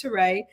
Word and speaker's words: Terré: Ain't nobody going to mispronounce Pam. I get it all the time. Okay. So no, so it's Terré.